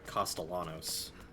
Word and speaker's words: Castellanos: Sorry, Castellanos. You have to say it wrong. You never said that name wrong, excuse?